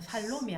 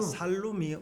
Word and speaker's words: 살룸: 살롬이 아니고 살룸이잖아요. 살룸이 네.